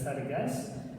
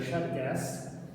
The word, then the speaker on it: цæргæс: Вот на юге знают и даже на телевидении стараются говорить вот так, то есть они говорят «царгас», в быту говорят «шаргас», а на севере все говорят, северяне, да, кроме недавно приехавших с юга, они говорят «саргаш».